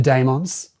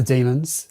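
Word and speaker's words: Dæmons: Next up, we have the Dmons or the Demons, however you like to pronounce it. I like to say Dmons cuz it sounds cooler to say.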